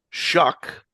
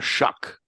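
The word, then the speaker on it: Shough: And I I figured we would see the rookie Shuck is how they want to pronounce that, I guess. Tyler Shuck. Sh H O U G H Shuck.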